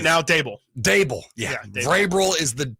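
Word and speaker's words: Daboll: And I think not Vrabel. I always get the name mixed up. It rhymes with that. The head coach for the Giants. Right now, Dable.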